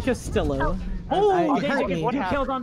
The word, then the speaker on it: Castillo: You are throwing, so you pronounce the L's in Castillo. You said Castillo.